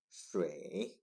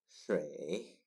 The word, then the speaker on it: 水: Its pronunciation is 水, 水, 水, and this is water.